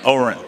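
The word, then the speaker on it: Ohren: how do you say his last name Oh Oberon probably record it with him and then we're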